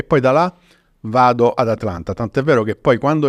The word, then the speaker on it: Atlanta: Anzi, dovrei dire Atlanta, perché loro hanno questa pronuncia americana molto southern, no? Atlanta, molto, molto di slang, che di lì a